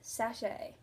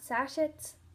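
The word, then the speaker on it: sachet: The last tea tool term that I have is sache. Not sashets. Sache.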